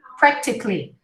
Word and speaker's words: practically: it practically okay practically you practically don't hear any vowels except for the first one prep because it's a stress syllable syllable syllabatonica right practically